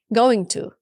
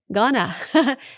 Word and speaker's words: gonna: And she said, Marina, you still sometimes say going to. No, gonna. That's the right way to say it.